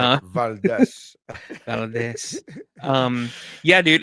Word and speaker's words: Valdes: I am Nery Saenz, and with me, as always, is Valdes. What's up? Yeah, thank you for pronouncing it correctly. that's right, Uh, Valdes.